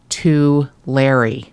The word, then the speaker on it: Tulare: And she sent me the correct pronunciation, which is apparently Tulare. Yes. Which that's what the locals call it.